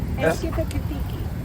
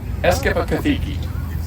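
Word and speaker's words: Eskippakithiki: Eskipakithiki. Eskipakithiki. You have to say it fast.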